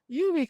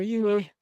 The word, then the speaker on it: Yuwi: We begin with the land of the indigenous West African Yuwi culture. Technically, this name is pronounced Yu or Yui. I prefer the latter.